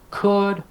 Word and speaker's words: could: if you're teaching should could would if you're not telling your students that L is silent you're not doing your